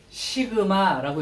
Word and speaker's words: 시그마: 요게 읽을 때는 시그마라고 읽을 거야.